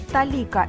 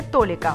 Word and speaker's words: толика: Напоминаем, что сегодня мы отметили ударение в слове «талика». Именно так, не «толика».